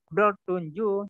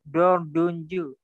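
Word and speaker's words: dördüncü: Jadi T itu dia berubah menjadi D. Jadi tidak dibaca dot tunju, tapi dibaca dot dunju.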